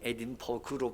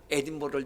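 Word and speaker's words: Edinburgh: 그건 에딘버그로 발음하는 게 아니고 버러로 발음합니다. 어쨌거나 에딘버러를 비롯해서 이 BURGH가 붙었던 그런 지명 이름들은 대부분 로마가 지배했던 지역들이에요.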